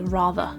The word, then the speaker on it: rather: end of the word there's actually no vowel sound after the end of the word so therefore we don't pronounce the r sound and we just say rather other examples where the